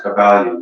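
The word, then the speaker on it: Kybalion: The Kabbalion, good starting point, Kabbalion. Yes, it sounds like Kabbalah, spelled slightly different.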